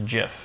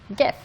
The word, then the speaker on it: gif: stands for graphic oh the person the person who came up with that word says jiff really but he is wrong yeah it's a hard g gif it's it's yeah it's